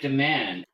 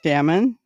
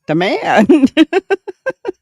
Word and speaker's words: DeMann: And I said, Damon, the man, and then I said, the man. And he says it just like I said it.